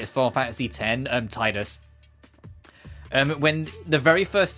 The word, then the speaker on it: Tidus: in a spin-off and they called him um Tedus and I have forever argued that the game has an extremely heavy focus on water. He plays water sports. He has a water sword. Um, he has water magic predominantly. It was supposed to be Tidus as in Tide as in water tide, not Tedus.